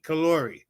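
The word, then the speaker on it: Kollore: Kalori.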